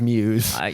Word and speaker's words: Muse: I have taken your advice and learned how to pronounce his name correctly. Yeah. It is Muse.